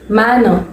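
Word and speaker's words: manor: மேனர், மேனர் அப்படின்னா ஒரு பண்ணை நிலம், பண்ணைக்கு உரிமைப்பட்ட ஒரு தனி நிலம், அதுதான் அதோட தமிழ் அர்த்தம். எப்படி ப்ரொனவுன்ஸ் பண்ணணும்? மேனர். ஆர் எப்பவுமே கொஞ்சம் சைலண்டா ப்ரொனவுன்ஸ் பண்ணணும். மேனர், மேனர்.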